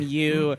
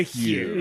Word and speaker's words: Hugh: It is a little sweaty that he goes from you to Hugh.